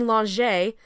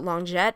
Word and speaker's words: Longet: It's that annoying song that Claudine Longet, I know I pronounced it Longjet, but I've since been corrected, sang way back in Journey to San Juan.